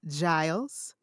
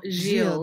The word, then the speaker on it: Gilles: Did I pronounce that right? No, Gilles. No idea. Gilles. See, and y'all, I asked her before. Okay, wait. I asked her before we started, and I still got it wrong.